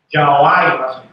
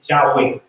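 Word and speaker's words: Yahweh: a y la i entonces empezaron a pronunciarlo yaai yuai y de ahí se empezó a pronunciar el nombre de Dios el nombre de Dios vamos a decir lo más correcto posible se pronuncia yahwe y ahí es donde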